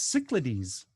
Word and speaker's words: Cyclades: mispronounced by about 15,000 people. Yeah, well, let's hear you say it. It's Cyclades, Cyclades, Cyclades.